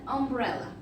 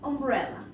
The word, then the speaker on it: umbrella: Aquí tenemos entonces este ejemplo, comienza con U, pero no se pronuncia como U, sino que se pronuncia más bien como una umbrella, ¿sí? Por si no se recuerdan, umbrella es paraguas. Again, an umbrella. ¿Ven? Se pronuncia como una O, por lo tanto lo